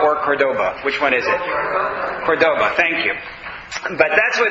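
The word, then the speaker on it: Córdoba: wrong either Cordoba or Cordoba which one is Cordoba thank you but that's where they are from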